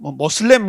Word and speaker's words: 무슬림: 그 다음에 무슬림. 이슬람 신자들을 무슬림이라 그러죠. 모슬렘 그러기도 합니다만은 아라빅에 좀 가깝게 발음한 무슬림입니다.